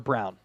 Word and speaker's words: Braun: I thought that would translate Christian Braun or brown spelled brawn pronounce Brown 34-23 early jokic putting up a